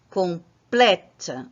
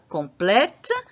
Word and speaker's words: complète: Je vais changer la prononciation de ce E. Au lieu de prononcer « et », je vais prononcer « est ». Complète, je complète, tu complètes, il complète. Nous complétons, vous complétez, il complète. Alors, observez qu'à partir du moment où je change, où nous changeons la prononciation de « et » par « est », je marque ce changement par le changement d'accent.